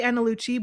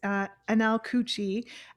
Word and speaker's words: Anel Cucci: You can find him on TikTok at I always say Analucci, but it's Anel Cucci on TikTok.